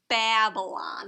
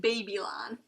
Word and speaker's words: Babylon: people and they're called Babylon the Babylonians it looks like babies when you spell it out it looks like baby lon but you say Babylon so the Babel Babylon